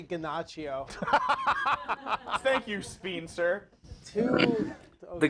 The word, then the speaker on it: Giacchino: incarnation of Space Mountain, his last name is actually pronounced Giacchino.